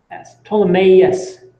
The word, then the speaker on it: Ptolemaeus: So that means this is a P-T-O-L-E-S, Ptolemaeus, is actually how it's said.